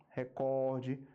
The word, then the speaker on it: recorde: a sílaba mais forte por exemplo ó o que nós temos aqui é o correto acentuação correta avaro sovina né o avaro sovina e interim recorde rubrica ibero tá ainda tem um aqui